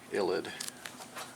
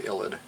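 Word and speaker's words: ylide: is called a phosphorus illid with the e illid y-l-i-d-e it's just a funny charged phosphorus thing has a so it's a phosphorous space reagent okay and the name of it's called the illid so what is the funny phosphorus illid thing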